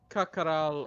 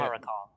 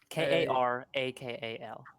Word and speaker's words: Karakal: pronounced More. So you said that Kakaral, or however you say it, Karakal. Karakal, is that K-A-K? Karakal.